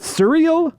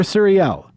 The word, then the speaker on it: Suriel: I mean, when he started, I asked specifically, is it Surreal or Suriel? And he pointed me towards the second one.